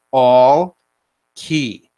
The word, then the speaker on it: Alke: She said it's pronounced all key. Okay. Even though it's not spelled like that.